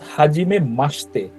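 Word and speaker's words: はじめまして: তে হবে হ্যা অর্থাৎ হাজিমে মাসতে অর্থাৎ জাপানি ভাষায় কিছু শব্দের ইউটা সাইলেন্ট হয় আবার আরেকটা আছে ওটা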